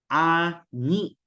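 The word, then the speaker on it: あに: Yung malambot na pagka-pronounce ginagawang matigas. Now, same for this one. Ani.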